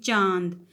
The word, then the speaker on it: चांद: आप लोग साथ में बोल सकते हैं चांद। चांद बोलते हुए मैंने उच्चारण नाक और मुख दोनों की सहायता से किया है चांद, क्योंकि ये अनुनासिक हमने यहाँ पे लगाया चांद।